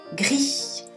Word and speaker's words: gris: Gris, gris. Se escribe como en castellano, gris, gris, pero no se dice la S al final.